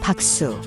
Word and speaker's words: 박수: The second word is 박수. which is formed by reversing the syllables of.